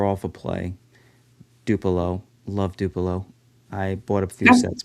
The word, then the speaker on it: DUPLO: That's how you say it? Uh that's how I say it. Okay. How do you say it? I say it like it's spelled. I say DUPLO.